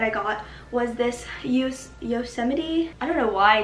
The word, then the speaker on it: Yosemite: first shirt that i got was this use yosemite i don't know why i just messed up that word i literally know how to pronounce it yosemite national park shirt and it is just so